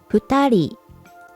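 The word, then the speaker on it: 二人: it's pronounced he thorry to people in kanji pronounced futari three people pronunciation son mean for people your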